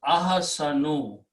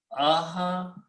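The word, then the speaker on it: أحسن: So you put an alif in the beginning and you pronounce Ahsanu. Okay, so Ahsanu.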